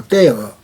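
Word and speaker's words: terre: 프랑스 말로 떼허. 영어식으로 읽거나 라틴어식으로 읽으면 테라가 되겠는데 프랑스 발음은 R이 히읗으로 발음 나는데 떼허입니다.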